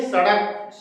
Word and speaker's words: सड़क: इस र का जो है अड़ा, ये जीभ जाता है ऊपर ऊपर, और ये होता है अड़ा, अड़ा, अड़ा, यानी कि सड़क।